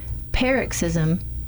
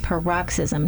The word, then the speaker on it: paroxysm: to pronounce this word, paroxysm and paroxysm. Now, I find it interesting that the first way to pronounce it, you stress the first syllable of the word.